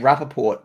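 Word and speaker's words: Rapoport: intriguing like is that it's also you say it Rapaport but like his name is spelled Rapport yeah know like you know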